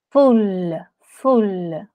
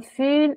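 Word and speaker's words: full: Ты сказала фюль, и это значит некрасивый. Ага. Фуль, когда ты произносишь фуль. Короткое «ы», фуль, ага. Это фуль. Значит полный. Фуль. Угу. Фуль. И двойная «эль», фуль.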